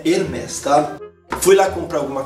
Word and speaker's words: Hermès: Porque eu pensava assim, Hermès, porque o S é silence, o S é mudo no final, né? Mas aí não, nome próprio pode ter S, não tem jeito. Então eu falava Hermès, ó que burro, mas é Hermès, tá?